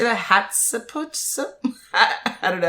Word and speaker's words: Hatshepsut: Hatshepsut? I don't know how to say that. Hatshepsut, yeah, ruled Egypt for more than 20 prosperous years.